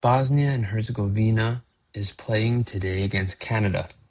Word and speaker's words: Herzegovina: Bosnia and Herzegovina is playing today against Canada in the World Cup.